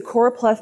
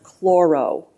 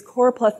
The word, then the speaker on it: choropleth: oh and Plath and you'll often hear it mispronounced chloro it's not chloro it's coral which means